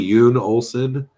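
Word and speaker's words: Jon Olsen: Like, I'm subscribed to a guy on YouTube called Yoon Olsen, but it's spelled J-O. So it looks like John, but it's really Yoon Olsen.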